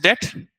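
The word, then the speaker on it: debt: तो दोनों चीजें हैं व्हाट इज डेट इसमें बी साइलेंट रहता है डेट इज बोरो करना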